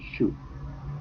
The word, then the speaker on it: should: Okay, so you say could, would, and should. Don't pronounce O or L.